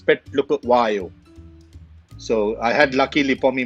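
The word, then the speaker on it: Phehlukwayo: What's the most difficult name you've had to pronounce on air? Recently concluded South African tour, Petlukuwayo. So Andil Petlukuwayo. So it was broken into three names. Petlukuwayo.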